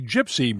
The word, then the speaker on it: Jypsi: On a similar note, country music star Eric Church is one of the partners in the new Whiskey Gypsy brand, and that's spelled JYPSI.